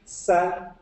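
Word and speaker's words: 三: 3, san, like san.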